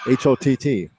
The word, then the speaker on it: Hott: That last game, they had a player named Hott, H-O-T-T. He said, that's not Holt misspelled like they said last year. His actual name is Hott.